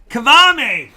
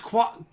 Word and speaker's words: Kwame: wants to know, It's pronounced Kwame.